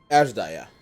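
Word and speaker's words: Azdaja: I dare to hope that it was Ashdaya. Ashdaya. That's how you say it.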